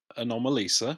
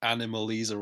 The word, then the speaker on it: Anomalisa: my number three is anomalisa which is how you pronounce it clay what did i say what did you say you said animalisa or something yeah oh i think